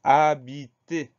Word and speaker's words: habité: mot c'est le mot habité trois syllabes première syllabe à et premier piège on à 1h au début du mois une lettre muette qu'on entend pas donc on y pense